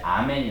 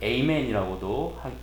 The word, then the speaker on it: 아멘: 그래서 아람어에서 이제 아멘이 나온 거예요. 아멘. 우리 영어로는 또 이거를 에이멘이라고도 하기도 하죠. 근데 본래 발음은 아멘이죠. 믿습니다 이런 뜻이에요.